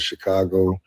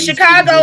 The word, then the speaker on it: Chicago: If you and Chicago isn't even pronounced that way, it's Chicago, and that is tell us about Native American tongue.